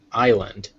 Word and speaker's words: island: have a fun one Island it's spelled with an S but clearly there is no s sound in it the first sound